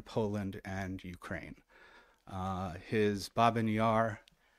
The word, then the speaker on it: Babyn Yar: and Ukraine uh his binar and that's how we are pronouncing it binar for a number of